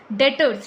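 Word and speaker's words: debtors: a reasonable short period डेटर्स यहां B silent है डेटर्स व होते है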